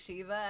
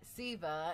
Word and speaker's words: Siva: Savior William Patrick Corgan pronounces it Shee-va, as in like the Hindu Shiva. So that's how we're going to pronounce it. But still to this day, after so many years of knowing it Shee-va, when I still see